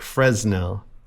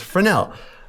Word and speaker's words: Fresnel: I'll spell it because it's French and it'll make you say, "Hey, that looks like Fresnel, but it's Frenel."